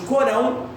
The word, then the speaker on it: Corão: O nome desse livro tem dois nomes, alguns chamam de Corão, alguns chamam de Alcorão. As duas pronúncias estão corretas.